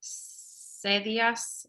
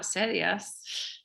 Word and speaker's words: sillas: Estas es sillas verdes. Okay, so how do you say chairs? Not sillas.